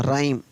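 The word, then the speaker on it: rhyme: तो क्या होगा, र का आर, आर का र, और वाई का हो गया आई, तो राई, और एम ई का म, राइम।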